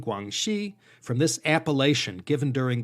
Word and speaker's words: Guangxi: and guangdong west circuits east is pronounced dong and west is she that's where we get guangdong and guangxi from this appalachian given